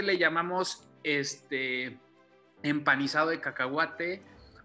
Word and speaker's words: cacahuate: entonces usamos cacahuate el cacahuate es mexicano y la pronunciación correcta correcta es cacahuate aunque en españa le dicen cacahuetes no esté y no